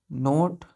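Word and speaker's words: knot: Measure the length between नोट एन ओ के एन ओ टी नोट। इसको के को हम नहीं पढ़ते हैं, इसको क्या प्रोनाउंस करते हैं, नोट पढ़ते हैं, एन ओ टी नोट।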